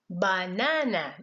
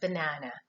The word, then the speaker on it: banana: You would not say banana, but it is banana.